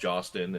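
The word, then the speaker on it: Hostin: with Whoopi Goldberg, Sonny, I believe it's pronounced Jostin, and the rest of the crew on The View.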